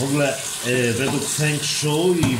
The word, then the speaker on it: Feng Shui: Feng Shui, to tak się tam powinno wymawiać.